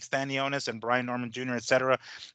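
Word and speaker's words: Stanionis: then stanos how do you say it uh stanonis stanonis yeah and then try to get baros into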